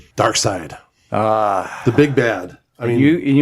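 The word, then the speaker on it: Darkseid: Dark Side. The big bad. I mean, You pronounced it side. I did. Yes. Even though it's SEID.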